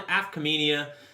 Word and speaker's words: Afkhaminia: This is Tyler Vaughan, your host, and I have on a very exciting guest here, Sean Afkhaminia.